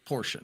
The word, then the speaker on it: Porsche: trained myself to say it properly so it's Porsche now yeah if someone can go back through